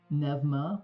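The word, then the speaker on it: Pneuma: Nevma, which is spelled P ne, P nema, the god of undeath and necromancy, as well as spirits in the ethereal.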